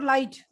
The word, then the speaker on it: light: What about light? H. G and H. G and H. We just say L-I-T.